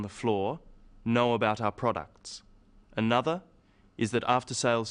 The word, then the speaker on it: products: The wrong stress makes it hard to understand. So, conclusion, not conclusion. Products, not products.